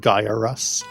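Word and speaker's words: Gyruss: okay however however you say it gyrus it's pronounced guy or us gyrus okay I only know that because of the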